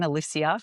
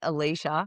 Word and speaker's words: Alysia: My name is Alysia and I'm going to pronounce that again, Alysia, because most people get it wrong. And because most people get it wrong, and I hate Alicia.